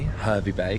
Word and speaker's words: Hervey Bay: Hervey Bay.